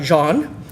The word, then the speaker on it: Jean: The name of Jean, pronounced more like John than Jean in that language...